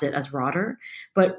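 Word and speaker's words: Rotter: T E R, but I think it's like Dutch or German. Anyway, so I'm going to mispronounce it as Roder, but Roder studied locus of control,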